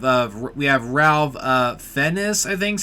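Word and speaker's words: Fiennes: movies we have of we have Ralph uh fenis I think how you say his name you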